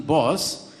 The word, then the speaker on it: Boas: capable hand of Morton boss I do not dare to pronounce it in Norwegian way but trust me boss is good enough and we have the